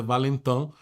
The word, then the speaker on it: Valentin: Tem gente que fala Valentin, a pronúncia francesa é Valentin.